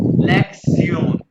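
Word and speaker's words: Lektion: ये शन जो है, ये टी आई ओ शन, इसको जर्मन में प्रोनाउंस करते हैं सियोन, यानी लेक्सियोन।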